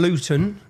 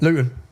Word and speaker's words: Luton: And so, anyone if you don't understand Luton, Luton, see I pronounced my tea there. We don't pronounce our te's. I've done that for you. How do you say it? Luton.